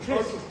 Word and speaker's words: Khrisp: It's Crisp with a KH. Yeah. How do you say that? Crisp. Just crisp. Just Crisp, okay? Crisp. Yeah. So KHRISP. Yeah. Crisp. Or you can go crisp. Whatever you prefer.